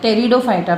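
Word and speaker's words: Pteridophyta: टेरिडोफाइटा, P silent है, टेरिडोफाइटा, फिर gymnosperms and last में है एंजियोस्पर्म्स, ठीक है।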